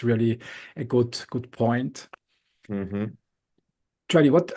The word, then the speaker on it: Jordi: but in the Northeast we speak Catalan, and my name doesn't. So we don't have the Oh, pronunciation. It's really? more similar to the French somehow. Yeah, Is this such a huge difference, Catalan and I think it's Castellano, isn't it? yeah, The Catalan Castellano. Yeah, it is a different language. Yeah, it is a different language. Yeah, yeah, yeah. so it's Jordi, like the English pronunciation.